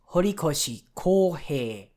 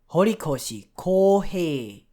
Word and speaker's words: Horikoshi Kohei: The author's given name, both of the syllables are long, so that's Kohei. Both of them take 2 beats in the rhythmic system of Japanese pronunciation, and all of the syllables and his family name are short, so Horikoshi, like that.